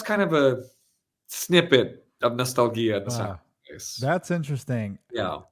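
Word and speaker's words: Nostalghia: him but the autobiographical part of uh no Nostalgia I guess is how you say that yep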